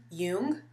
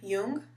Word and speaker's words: Yeung: I believe her last name is pronounced Jung. Y-E-U-N-G. Karen Jung. That's what I'm guessing.